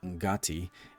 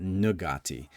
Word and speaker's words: Ngati: difference between Huana people who correctly pronounce it Ngati and people from outside who just are trying to either assimilate or appropriate Huana culture, and they pronounce it Nugati.